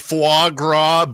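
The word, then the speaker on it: foie gras: It's f It's fuagra.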